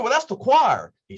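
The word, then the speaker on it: coir: right and it is it is pronounced choir all right and i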